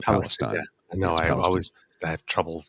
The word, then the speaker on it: Palestine: In Palestine, Palestine is how they pronounce it, not Palestine.